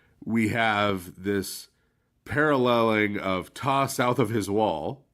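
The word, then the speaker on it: Ptah: We have this paralleling of Tais, right? Ta from upper Egypt, the god Ta, which is spelled with a pt ah usually in English uh being paralleled with Rey, the sun god.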